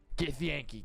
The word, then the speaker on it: Githyanki: Githyanki.